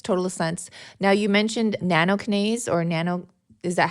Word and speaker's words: nattokinase: Now, you mentioned nattokinase or is that how you say it?